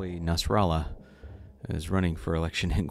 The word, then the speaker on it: Nasralla: We have Hernández versus Nasralla, and I was really interested into seeing how a Nasralla is running for election in Guatemala. Even though it rhymes with Guatemala, that is not a Spanish name.